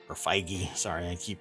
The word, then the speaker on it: Feige: Josh diamaro and the Marvel Studios head Kevin figgy or feige sorry I keep pronouncing that according to the Amaro the ride